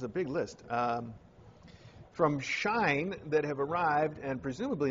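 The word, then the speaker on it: Shein: big list um from shine that have arrived and presumably in the mailbag for tomorrow since I think it's pronounced shine s-h-e-i-n was having a free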